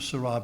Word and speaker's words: Sarah: and I pronounce it Sarah because she's a French you know and French always accents a lot of silver Carlos Ryan also it rhymes with hurray uh but he he's